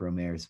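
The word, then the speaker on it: Rohmer: i would say eric romey but okay so it is a we do pronounce the art good eric romero because it that's all you over here especially you know the english-speaking world is romer well romer i suppose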